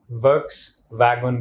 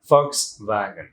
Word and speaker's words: Volkswagen: আমি নিজেও হয়তো বা একসময় Volkswagen বলতাম, দো ইট is start with sound, কিন্তু প্রোনাউন্সিয়েশনের সময় আপনাকে অবশ্যই সাউন্ড দিয়ে বলতে হবে Volkswagen।